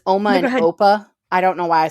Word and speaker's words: Opa: So I'm sorry to derail for a second, but it's Oma and Opa. I don't know why I said Appa. It's Oma and Opa.